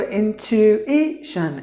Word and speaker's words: intuition: So intuition, intuition. So you have to give the stress here. Intuition, intuition. So the TU, not to, you have to pronounce it like chu.